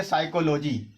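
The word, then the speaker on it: psychology: कैसे यहां पे पढ़ेंगे साइकोलॉजी यहां पर सा लगातार कंसोनेंट है आपके 5 कंसोनेंट लगातार आए हैं तो यहां पर लेकिन आप पी को साइलेंट समझेंगे क्योंकि ये पहले लेकर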